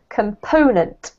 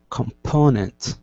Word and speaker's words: component: perfect this one here you said it correctly but the emphasis is on the PO component component yep then we have